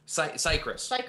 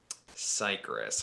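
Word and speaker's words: Cicrus: read their name, and the whole time I thought it was pronounced like, you know, like citrus, because it's spelled C-I-C-R-U-S. Yeah. Like circus, but backwards. I thought it was circus when I first met it. Several times I said that too. So I was like, oh, Sikris, like citrus.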